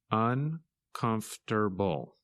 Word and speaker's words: uncomfortable: and its opposite comfortable when you say this word you do not pronounce some of the letters that you see in the written word in this lesson you